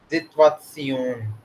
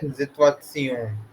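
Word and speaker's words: Situation: सिचुएशन is explain same like but pronounce is different, सिचुएशन, pronunciation is different. जितवात्सियोन, ठीक है, जितवात्सियोन।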